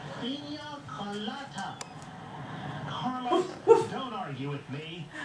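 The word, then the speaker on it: piña colada: penis coladas. Woof, woof. He's pronounced Pina Colada.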